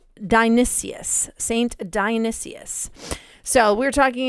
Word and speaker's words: Dionysius: Today we're talking about the terrifying strange legend of Saint Denis, also known as, and I'm going to pronounce this correctly, Dionysius.